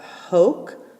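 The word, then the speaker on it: hōc: ablative we're gonna have hoke so a long o and then a c hawk with a long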